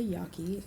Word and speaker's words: Yaqui: just some general information they're called the yaki and you have the pronunciation written out for you there but they also call themselves the hiyaki meaning literally person or people in their language you'll find them in